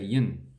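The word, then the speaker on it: yen: how you say that you can start to say the japanese currency again then you say yin so basically you need to in pretty much cross out that e then we have murrayville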